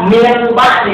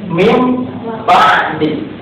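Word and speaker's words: مِنْ بَعْدِ: Ini dibacanya tidak min ba'di tapi mim ba'di.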